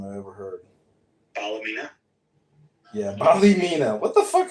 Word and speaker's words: Ballymena: pronounced like Ballo, not Bali. So it's like Ballymena.